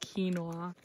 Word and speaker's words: quinoa: That's not how you say it. My dad doesn't believe me that it's pronounced quinoa.